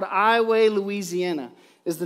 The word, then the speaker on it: Iowa: 2 000 people called iway louisiana is the name of the town which for many people they pronounce iowa like the state of iowa because it is spelled iowa but for some reason